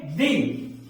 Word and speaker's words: the: लेकिन अगर आउल है तो इसमें इसका उच्चारण वॉवल से आ रहा है, तो इसको हम जब पढ़ेंगे तो इसको पढ़ेंगे दी।